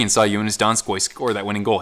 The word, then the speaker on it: Donskoi: saw you in his donskoi score that winning goal he says don scott and this is shark's voice and so i learned how to say it like that so i just instinctively